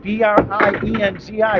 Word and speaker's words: Brienzi: Nick Brienzi, B-R-I-E-N-Z-I, pronounced Brienzi, 139 and back of the 3.